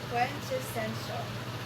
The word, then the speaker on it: quintessential: This word is quench or sorry quintessential is how you say it.